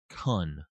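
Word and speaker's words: Kuhn: This is Kun.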